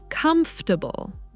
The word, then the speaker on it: comfortable: Why do native speakers shorten this word? Because saying every syllable takes more effort. Over time, pronunciation becomes simpler.